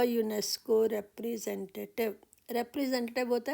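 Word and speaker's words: UNESCO: next है शी इज यूनेस्को representative यूनेस्को यू यूनेस्को को तो यहां पर भी देखें फर्स्ट वर्ड फर्स्ट लेटर इसकी साउंड य की है तो हमारा यहां पर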